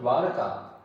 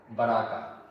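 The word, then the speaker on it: Dwaraka: So similarly Greek sources have also mispronounced the word Daraka as Baraka.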